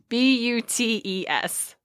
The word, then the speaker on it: Butes: is it Boots? Is it Butts? Is it Boutes? How do you spell it? B-U-T-E-S. It might be just Butes. You know, Butes sounds right. Yeah. Yeah, it's Butes. Perfect.